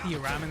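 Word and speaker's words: Nithya Raman: Councilwoman Nia Ramen was Nia Ramen.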